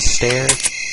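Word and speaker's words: Steyr: AUG in real life stare aug I think that's how you pronounce it stare s t e y r I'm a bit of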